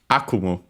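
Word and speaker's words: 悪夢: Akumu. I think accented on the first syllable, but we'll check.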